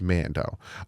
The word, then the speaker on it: Mando: head to toe with Mando and that's how you know how to say their name properly cuz it rhymes with toe it's Mando um but for real